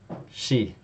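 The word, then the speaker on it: し: But you noticed that the E column and the S row produced a shi. Okay, that's because there's no C sound in Japanese.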